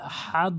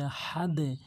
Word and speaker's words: আহাদ: দাল দুটি পেশ দুন অনেকেই বলে আহাদ বলে বলতে হবে আহাদ আহাদ দেখুন আমরা এই আয়াতে